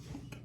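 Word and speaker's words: Hangk: But he hangs, and so his name is Hank, and that's spelled H-A-N-G-K. Hank.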